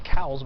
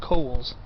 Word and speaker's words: Cowles Mountain: A lot of people pronounce it Cowles, but it's, from what I heard, it's supposed to be pronounced Cowles.